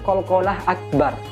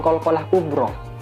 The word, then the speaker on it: Qalqalah Akbar: ability Habibie wattab Hai nah ini Qalqalah Akbar bukan qolqolah kubro kalau Kubro itu huruf